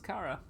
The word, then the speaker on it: Cara: like fixes your weapon I mean it's my name and I can confirm it being pronounced as Cara cool well that that's